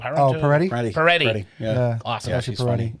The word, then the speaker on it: Peretti: Chelsea Parento? Oh, Peretti? Peretti.